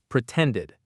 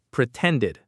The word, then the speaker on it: pretended: But first, let's talk about the pronunciation of pretended. It has 3 parts, 3 syllables. Pre-ten, did. Pretended. The stress, the power is on that middle syllable, ten.